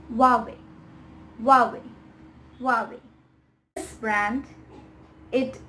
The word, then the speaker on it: Huawei: have heard of it and it is not hawaii it's huawei huawei huawei this brand it is oftenly mispronounced as mercedes when it should be mercedes